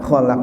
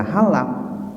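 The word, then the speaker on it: خلق: maha mengetahui ya ini kalau keliru membacanya kholaq dibaca Halak jadi hop menjadi hak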